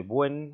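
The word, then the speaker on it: Bouin: de los más utilizados es el líquido de 'buen así se pronuncia que es una mezcla de ácido pícrico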